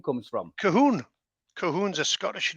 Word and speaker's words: Colquhoun: was talking before we came on about the pronunciation of the name wormwood because I was going as in Calhoun what is it and your tool is a